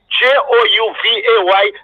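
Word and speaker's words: J'ouvert: man was doing was to tell them it's pronounced j-o-u-v-a-y like over juve chocolate yeah yeah just in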